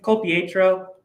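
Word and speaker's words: Colapietro: It's Colpietro.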